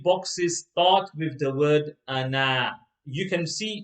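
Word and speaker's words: أنا: but actually and now after the noon there's an alif that alif is not read so rather than reading ana it will be read okay in all three boxes it's red anna so let's read box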